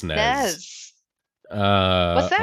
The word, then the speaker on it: SNES: It's pronounced SNES. Nez.